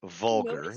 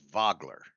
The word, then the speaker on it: Vogler: the town is not vulgar the name of the town is Vogler I don't know if